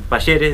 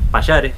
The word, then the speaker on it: Palleres: Se equivocan siempre con la segunda sílaba. En vez de decir Palleres, dicen Pallares. Pero bueno, sí.